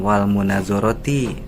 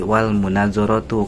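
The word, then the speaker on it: والمناظرة: Mohon maaf ustaz itu dibacanya bukan wal munazaroti tapi wal munazaratu karena wunnya itu adalah wau atop.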